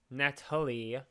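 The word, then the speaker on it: Nathalie: he meets up a girl called Natalie, spelled with an H for some reason, like Yeah, it's Nath Nat Hully. Natalie, which is really weird.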